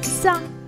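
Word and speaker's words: ز: Repeat with me, za, is similar to the English sound z, like in zebra or zoo.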